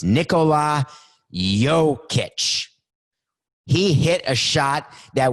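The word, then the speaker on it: Jokić: watch it right now nicole um jokic i get i'm so sorry coco did i have it right in any case he uh it's nick coke is trying to spell it out for me he's trying to say it for me he can't say it i can't hear it it's nicola yo kitsch he hit a shot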